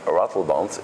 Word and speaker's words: Ratelband: to pronounce my name because my name is french emil and rattlebond is like a real dutch but you're doing great